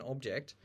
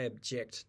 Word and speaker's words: object: of seconds and realized another good example is object so over there there is an object but there's also the verb object so I object to this so again exactly the same phonemes in both words but we can tell the difference because the stress is different so stress is basically